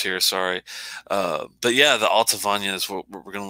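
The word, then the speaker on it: Allt-a-Bhainne: Alta Vanya. It's spelled, it's spelled weird, but it's Alta Vanya. It's A-L-L-T.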